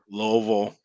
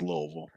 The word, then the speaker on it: Louisville: and Louisville Louisville I mean there's loville everybody that lives lives here pretty much says Louisville even though it ain't spelled nothing like that it's spelled Lewisville